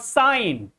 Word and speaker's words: sign: Like in the word sign.